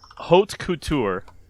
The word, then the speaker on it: haute couture: Haute couture is a French word.